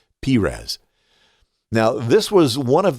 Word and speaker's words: Perez: faires requested by beatrice now pharah's is also the word that we often see as pires or some people say perez but the correct biblical pronunciation is pires now this was one